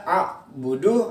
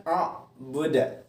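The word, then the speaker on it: أعبد: Jadi selama ini kadang anak-anakku masih ada yang membaca a'budu, nah itu keliru. Jadi harus dibenarkan a'buda.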